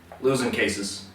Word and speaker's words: Luzincases: episode of GLAAD TV currently we have losing cases that's how you pronounce it losing cases losing cases Esquire or it's just losing